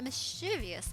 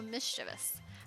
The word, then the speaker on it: mischievous: frankly after pulling a mischievous little stunt like that your suffering is fair enough retribution so mischievous mischievous i always i'd like i gave it way too many syllables uh did i just